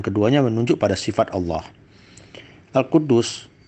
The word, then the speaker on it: Al-Quddus: Al-Quddus, ada juga yang membacanya Al-Quddus, merupakan kata yang mengandung makna kesucian.